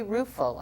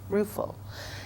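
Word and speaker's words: Ruefle: heard before again uh Mary ruul I believe is how you say it r u e f l e ruul in 1952 and it's called Recollections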